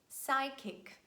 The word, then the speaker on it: psychic: Letter P is always silent at the beginning of words in such combinations PS, PT, and PN, so it's not pronounced. And we say psychology, psychic, pneumonia, pterodactyl.